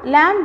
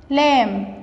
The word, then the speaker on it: lamb: Lamb. طبعا هنا البي silent. ما بننطقش البي.